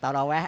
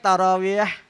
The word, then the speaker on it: ตะรอเวียะ: ก็ แวะ อ่า คือ ภาษา อหรับ เ เรียก ตะรอเวียะ อ่า แต่ มัน ออก เสียง ยาก อ นะ เหร คน ไทย อ่ะ อ่า อ้า ตรอ แว ก็ ตรอ แว ไม่ เป็น ไร เ่า เอา ที่ สะดวก ไม่ เป็น ไร ไม่ มี ปัญหา มัน มัน มัน มัน